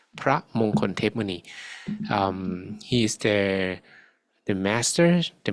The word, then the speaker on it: พระมงคลเทพมุนี: about is พระมงคลเทพมุนี That's how his name is pronounced, พระมงคลเทพมุนี.